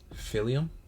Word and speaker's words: Philium: So like helium, but with a fucking P at the top front No, of it.